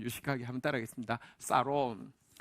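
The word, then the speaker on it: שָׁלוֹם: 자, 평안이라는 단어가 영어로는 샬롬이라는 발음인데요, 원어는요 조금 더 우리 좀 유식하게 한번 따라하겠습니다. 사롬.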